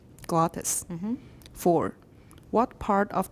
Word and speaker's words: glottis: the state of the glottis Gladys Gladys slag wha just glottis mm-hmm for what part